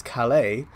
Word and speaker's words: Calais: That is Calais. Somehow Chenji is not a French name, but Calais is. So we're going to only pronounce some letters of some certain things.